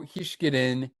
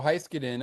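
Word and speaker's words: Heiskanen: Miro Hishkin with the Miro Heiskadin, I should say.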